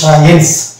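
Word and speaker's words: science: কিন্তু সাইলেন্ট হয়ে যাবে, ওই জন্য শুধু এসে দন্ত স ধরবো, হ্যাঁ, দিয়ে উচ্চারণ হয়ে যাবে সায়েন্স।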